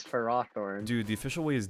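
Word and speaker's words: Ferrothorn: to pronounce the name why is it not pharaoh thorn we have ferromagnetic materials i don't tell you it's it that's the official way is for roththorn dude the official way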